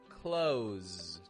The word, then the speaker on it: close: It's not a s, close, but it's a z, close.